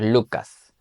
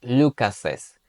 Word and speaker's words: Lucas's: Y ahora no vamos a decir Lucas, vamos a decir Lucases. Vamos a añadir una pequeña E entre esas S en la pronunciación.